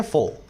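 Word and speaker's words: foe: देख रहे हो ना फॉय इसको बोलते हैं फॉय इसमें ए जो है साइलेंट होता है और फोर का मतलब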